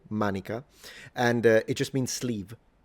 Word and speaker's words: manica: What is cool about the Latin word manica is that we still have the exact same word in modern Italian, pronounced exactly the same way, manica, and it just means sleeve.